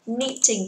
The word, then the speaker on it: knitting: Knitting, từ này không đọc là knit nhá. Chúng ta sẽ đọc từ này là knitting.